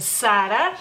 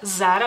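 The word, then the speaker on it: Zara: lugar es a la tienda Sara ustedes dicen Sara en España dicen obviamente Sara Sara digamos así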